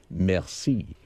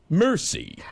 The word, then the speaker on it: merci: at it, you say merci. But when the way Brad pronounces it, it's really embarrassing. He gets it and he gets the bill and looks at it and says, mercy.